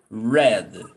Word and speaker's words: read: Read the difference is how you pronounce. And what is the pronunciation? Read. Red. Like the As the color.